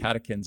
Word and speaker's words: catechins: Catechins. It's spelled in the literature CATECHINS, pronounced catechins.